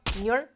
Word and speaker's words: 女儿: 女儿 two syllables. 女儿, not 女儿.